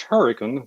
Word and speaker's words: Hurricane: in a small little town pronounced turrican that's really hurricane West Virginia and I work at